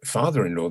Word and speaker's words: father-in-law: In father-in-law, there's only one accent on the first syllable.